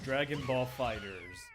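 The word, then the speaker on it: Dragon Ball FighterZ: I mean the last fighting game I actually played was Dragon Ball Fighters fighter way it's pronounced and that's the only like I guess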